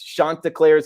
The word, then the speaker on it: Chanticleers: Chanticleers, I believe is how you pronounce it here.